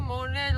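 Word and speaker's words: Montréal: sürekli Montreal duruyoruz ama açıkçası monreal olarak okunduğunu bildiğim halde Montreal demek çok hoşuma gidiyor daha kolay Çünkü söylenişi O yüzden arada Montreal demeye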